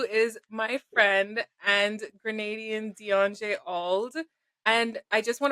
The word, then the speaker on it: Deon-Já: my friend and Grenadian Deon-Já Auld. And I just want to preface this by saying I mispronounce Deon-J's name all the time. So if you hear me say Deon-Ja and she corrects me, just let her correct